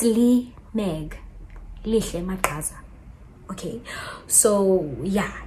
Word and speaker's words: Leigh Meg: Don't call me Leigh Meg. It's Leigh Meg.